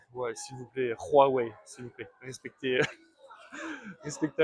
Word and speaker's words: Huawei: le H se dit se prononce comme le R en français.